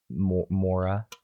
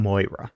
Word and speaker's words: Moira: John finds it suspicious that Mora, is that how you pronounce her name? Moira.